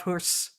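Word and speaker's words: Höss: Whereas the Uloud is just like a longer U sound. But this one's always been harder. Um it's also in the the common Dantto Awitz's name, uh Rudolph Husse. Rudolph Hus. Like I kind of just say it like that.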